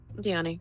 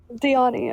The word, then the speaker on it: Dione: And she turns to Anya and Dione? Is that how you say it? Diani, yeah. Dione, okay, and goes, these, according to my sword here, are the twin daggers of reunion.